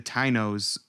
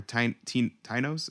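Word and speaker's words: Taíno: From the Huffington Post, they said that Columbus initiated the transatlantic slave trade, enslaving the Tainos or Tainos. Is that how you say it? Taino. I think it's pronounced Taino, but Tainos, telling his men he could take as many as they please.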